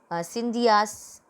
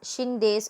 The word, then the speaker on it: Scindias: This is Scindias they pronounce, and we can pronounce it as Shindes also.